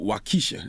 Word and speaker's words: Waukesha: Now you got a song on the album called Waukesha. Am I pronouncing it right?